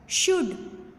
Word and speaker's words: should: शुड SHOULD लेकिन L silent है।